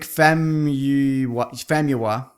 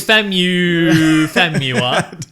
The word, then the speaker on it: Famuyiwa: His name's Rick Famuyiwa. It's not pronounced like that. I'm 100% sure. It's Famuyiwa.